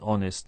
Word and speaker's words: honest: Now, honest begins with H, a consonant, but we don't pronounce it. We start with the vowel sound O, so we say an honest man.